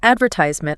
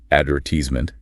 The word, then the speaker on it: advertisement: AME tends to stress the third syllable, advertisement. BRE often puts the main stress on the second syllable and might change the vowel sound slightly. Advertisement. Subtle shift, but noticeable.